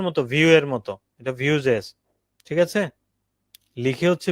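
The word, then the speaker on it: Vue.js: তারপর রিএক্ট এর মতোই আরেকটা হচ্ছে ভিউ জেএস। এটাকে অনেকে ভু বলে। তো ভিউটাই হচ্ছে মূলত ওদের অফিশিয়াল ডকুমেন্টেশনে ওরা বলেছে এটার নাম এটা উচ্চারণটা অনেকখানি কিসের মত ভিউ এর মত এটা ভিউজেস ঠিক আছে লিখে হচ্ছে ভি ইউই বাট উচ্চারণটা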